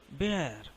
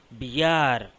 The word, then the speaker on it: bear: అలాగే బిఈఏఆర్లో ఏ సైలెంట్ అండి. బేర్, నాట్ బిఆర్.